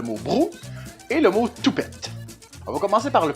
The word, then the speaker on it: toupette: Le mot brou et le mot toupette. On va commencer par le plus simple. Toupette. Le toupette au Québec, on prononce beaucoup le t comme si cit un peu t o u p e tte.